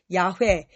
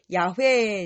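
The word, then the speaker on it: 야훼: 소개합니까 여호와라고 소개하고 있죠 히브리어로는 야회 야회 이제 그 발음에 더 가깝다고 해요 그런데 창세기 2장 4절에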